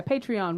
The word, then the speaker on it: Patreon: Yeah, Patreon with the EON.